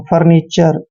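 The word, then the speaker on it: furniture: और TURE को चर पढ़ते हैं, फर्नीचर।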